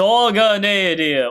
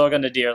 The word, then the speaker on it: Nadir: faded one of taboo Z ner or Z Nader I like to call I know the dub pronounce it Nar as you know the the sub pronounce it ner too but I prefer Nadar just because it sounds cool to me and great 3% 13k